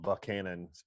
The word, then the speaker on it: Buckhannon: in virginia it's this little small town called Buckhannon spelled Buchanan pronounced Buckhannon about 900 people and when did